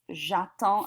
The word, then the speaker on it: j'attends: So this is actually not done, however, because with the je right here and a vowel right here, we need to, oh, it's correcting it for me. How nice. J'attends is how that's pronounced.